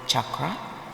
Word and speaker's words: chakra: And unlike those famous pretend energy healers who don't even know how to pronounce the word chakra, which is the correct way to pronounce it, chakra.